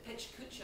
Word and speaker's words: pecha kucha: presentations of pecha kucha which i is pronounced in different ways in different conferences so uh pecha kucha i think is the right pronunciation of this conference is that correct absolutely yeah it's not it's not the wikipedia pronunciation no they're wrong there